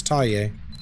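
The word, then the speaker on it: Thaye: It's a Burmese ghost. um from the country of Myanmar.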